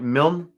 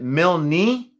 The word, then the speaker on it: Milne: on 16 balls jeez is it milne or milne it's pronounced mill not milton i appreciate that when